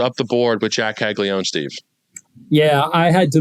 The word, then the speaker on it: Caglianone: Let's talk about some ADP risers, and I'd be remiss if I didn't mention Jac Caglianone, to use the traditional Italian pronunciation here.